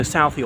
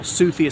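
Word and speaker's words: Southey: the southie even though southie or sufia some pronounce it was a tory and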